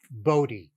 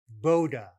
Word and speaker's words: Bode: It's a Dutch name, and the Dutch pronunciation is Bode. His family preferred the Dutch pronunciation. His colleagues, including Claude Shannon and Harry Nyquist at Bell Labs, they called him Bode. All my professors called it a Bode plot, so it's a Bode plot.